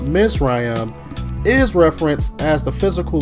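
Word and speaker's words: מצרים: bondage also the word egypt which is pronounced miss ryam is referenced as the physical land every time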